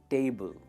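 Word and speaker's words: table: We need to बाय a dining टेबल। जो first part है ना वो स्ट्रेस होता है, टेबल, टेबल।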